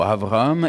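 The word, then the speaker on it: אברהם: Ma prononciation n'est peut-être pas excellente, mais on dirait plutôt Avraham.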